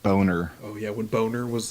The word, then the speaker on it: Boehner: passed it was when john boehner was still uh speaker of the house or whatever it's pronounced boner oh yeah when boner